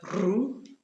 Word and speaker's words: rue: Examples we have rue. Parisienne. Hiver. And the French R comes from the throat.